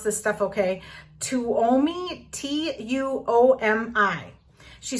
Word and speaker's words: Tuomi: question is from and i'm gonna try to pronounce this stuff okay tuomi t-u-o-m-i she says do you store old planners